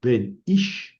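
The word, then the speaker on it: בֶּן: Aquí ven, lleva el acento, ¿verdad? Lleva una sílaba larga, pero aquí no lleva acento. No lleva acento. Es ben por el MACEF.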